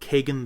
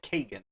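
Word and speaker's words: Kagen: just about to come out uh called called Kagan the Damned it's k a g n maybe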